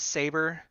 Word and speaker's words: 5ABR3: His name is Saber, although it's spelled out in leet speak, like computer terms. It's 5ABR3.